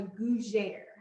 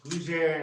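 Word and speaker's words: gougère: but this is called a Gougere. See, all these goo and gris, yeah, Gougere and gris, okay.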